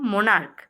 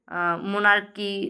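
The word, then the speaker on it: monarch: সকম মোনার্ক। মোনার্ক মানে হচ্ছে সেই রাজতন্ত্র টাইপ একটা মোনারকি টাইপস। তো এখানেও কিন্তু আমরা মোর্ক এমও এন এ আর সি এইচ। এখানেও সিএইচ এ উচ্চারণটা ক হচ্ছে।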